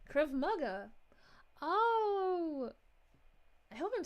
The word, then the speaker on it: Krav Maga: This is how you pronounce Krav Maga. It's Krav Maga. Krav Maga.